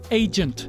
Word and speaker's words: agent: 冇人话你系 agent，我哋唔会咁读，系读 agent 呢个 G 字发音就系 j j。